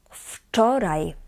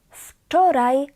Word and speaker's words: wczoraj: And yesterday is wczoraj. Wczoraj. Wczoraj była sobota. Please note that the W here in this word is pronounced as f. F. Wczoraj.